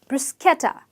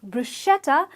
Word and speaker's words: bruschetta: different this word or this dish is pronounced as brew with an S Bruce okay top so it's brisk etta not bruschetta as one with fed it's actually bruschetta so the next time